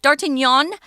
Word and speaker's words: d'Artagnan: of their words but d'Artagnan is fine in English if that's what is that what what comes out that's just fine we're not exactly proper with all our pronunciation of foreign words but yeah d'Artagnan is